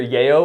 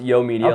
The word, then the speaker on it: Yayo Media: It's actually everyone everyone says either Yayo or Yao. It is pron It is pronounced Yo Media like yo, what's up?